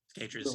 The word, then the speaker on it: Cicatriz: And my 3 favorite tracks would be Roulette Dares, Take the Veil, Serpentaxed, and probably Cicatriz. Is that how you say it? Cicatriz, yeah.